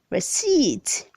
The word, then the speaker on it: receipt: 357 says receipt say receipt then say received the p is silence red 358 says restaurant